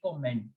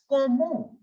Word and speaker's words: comment: So if you will pronounce it like English, you have to pronounce this word like comment. But no, in French, it is not comment. It is comment. Comment. The T in the end will remain completely silent.